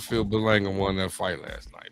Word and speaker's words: Balanga: Is it because how we pronounce his name? Bangaloa? Balanga, man. Balanga.